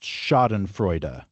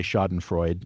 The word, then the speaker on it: Schadenfreude: I think it is pronounced Schadenfreude. Correct. Very good. And I guess we usually hear people say Schadenfreude, which I think is fine as an American. Apologies to German speakers, but it's fine.